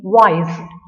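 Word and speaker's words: Weiss: are ferromagnetic materials now a sign is named wise spelling is w-e-i-s-s what is pronounced as wise it's a german german scientist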